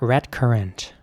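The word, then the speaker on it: redcurrant: And again, you have to pronounce the C like a K. So it's red currant, not red currant or something, but red currant.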